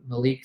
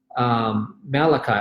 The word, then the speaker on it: Malachi: the three six nine malik 3:10 explain the three six nine malachi oh you oh you said malik you spell it that way okay Malachi 3:10 it's it's really